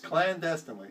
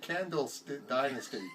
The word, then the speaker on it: clandestinely: Yes, clandestinely. You really... I did say it right. Did you? Yes. No, you're like Candle Dynasty.